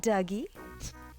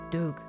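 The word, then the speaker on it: Dug: I was wondering whether we pronounced it differently since it was spelled D-U-G. I thought maybe it was Doug.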